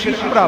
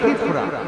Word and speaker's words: ক্ষিপ্রা: যাই হোক, সেই উজ্জয়িনীতে ক্ষিপ্রা নদীর তীরে, ওটা চলতি ভাষায় অনেকে ওই নদীটাকে শিপ্রা বলে, কিন্তু উচ্চারণ করে ক্ষিপ্রা।